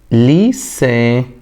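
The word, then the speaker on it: lycée: كلمة ليسي. تمام؟ شايف؟ ركز معي هنا. ليه ده اديته صوت الاس كده؟ صوت مش حرف، خلي بالك. تمام؟ علشان اتى بعده حرف من الحروف الثلاثة اللي بيخلينا ننطقها صوت الاس. صوت الس مش حرف، صوت، خلي بالك. س يبقى ليسا، ما ينفعش اقولها ليكا.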